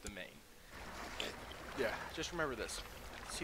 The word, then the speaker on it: demesne: That is pronounced Demesne. Do not ask me why. Actually, do ask me why. I actually relatively know how. It's because it's apparently a French word, and French words are weird.